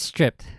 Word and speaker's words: stripped: Chuck Schumer his stripped is that striped right stripped yes it's stripped okay I I hate these words that are